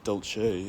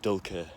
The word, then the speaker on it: dulce: get to, would be dulce et decorum est. So the C's, it's a small difference, but the C is slightly different.